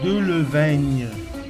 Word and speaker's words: Delevingne: Ça s'écrit de la vigne, mais ça s'écrit pas de la vigne. Cara Delevingne. C'est pas la vigne, c'est le vigne. Mais c'est parce que les Anglais, ils savent pas que c'est là, ils disent le vigne.